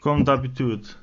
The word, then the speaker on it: Comme d'habitude: I don't know how you pronounce that in French. Comme d'habitude. Habituse, with a D apostrophe in the front.